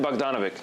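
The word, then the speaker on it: Bogdanović: How do you pronounce it? Bogdan Bogdanovic.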